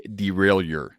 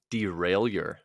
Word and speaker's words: derailleur: the term the piece of gear is a derailleur derailleur a derailleur can you spell it are you gonna google it if I